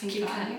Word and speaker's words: Khinkali: are we using for this khinkali did I pronounce it correctly it's yeah it's khinkali okay it's basically dumplings uh filled with meat